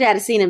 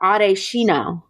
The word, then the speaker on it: Adesina: George, and I always pronounce his name wrong. I would say George Adesina because I've known him since college. He's frat. I've known him. And then he was like, it's actually Adeshino. I said, oh, Adeshino.